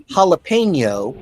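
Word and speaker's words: jalapeño: okay there's no TIY it's sort of like jalapeno is the correct way to say it but then it's habanero although most people don't say that it's fun right dioicus I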